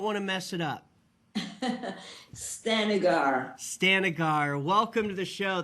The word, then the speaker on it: Stanigar: name i don't want to mess it up stanigar stanigar welcome to the show thank you for